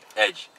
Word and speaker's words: edge: 에지. 에지. 응. 즈. 에지. 에지.